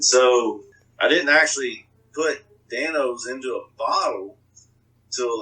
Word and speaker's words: Dan-O's: see like it said dan o's a lot of people were pronouncing it as like dinos or don gotcha in between the o and you know